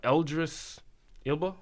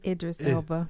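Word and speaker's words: Idris Elba: he's from overseas uh eldris Ila how you say his name Idris Ela Idris Ela you know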